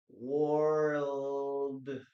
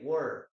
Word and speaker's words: world: Remember guys that here we pronounce the three letters world. World. Yes. Many people say word or world. No. Yes. But the full pronunciation in this case is world. You have to pronounce these three letters.